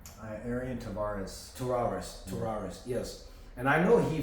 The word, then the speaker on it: Tavares: Am I pronouncing right? Arian Tavares. Tavares, yes.